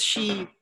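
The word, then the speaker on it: し: sometimes I say young because she sounds like death right he has it's very funny because it has two pronunciations yon and she okay but in Chinese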